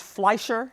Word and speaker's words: Fleischer: And you write that the animators at the, is it pronounced Fleischer? Yes.